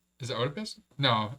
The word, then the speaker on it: Oedipus: Is it Oedipus? No, it's Oedipus. Yep. Oedipus. It's like the mom. Oedipus, yeah. Oedipus solving the Sphinx's riddle underscored the values of wisdom and bravery. Oedipus. The O is silent.